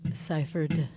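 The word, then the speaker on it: Sypherd: r d as in david say that says pronounce it ciphered cipher there's no f in there folks no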